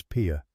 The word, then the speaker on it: Pia: My name is Pia. She said it the Comanche way. Two clean syllables, the first one short and the second one open.